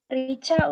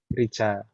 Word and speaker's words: Rica: Rika atau Rica? Rica, Ustaz. Rica.